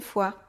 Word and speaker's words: fois: 1er, second, 3è, second et le s à la fin de tous les mots qui sont au pluriel mais aussi à la fin du mot divers ou une fois, une fois, deux fois, trois fois, f O i S.